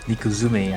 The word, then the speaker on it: N1ku2um3: And uh yeah uh if you're wondering his name is actually pronounced Nikuzum. I think the two is supposed to be a Z.